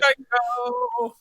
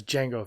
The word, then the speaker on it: Jango: Django. The D is silent. The answer is About the answer, go Django. the answer is Boba Fett. Hmm. No, I'm joking. It's Jango Fett.